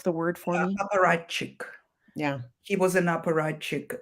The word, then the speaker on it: apparatchik: life of um what is the can you pronounce the word for me? Apparatchik.